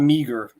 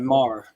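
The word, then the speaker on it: Meagher: It's not spelled how it's pronounced like that. It's not meager. It's a Mar.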